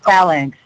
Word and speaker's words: phalanx: A phalanx.